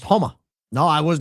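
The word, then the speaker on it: Houma: Homa, pronounced like Homa.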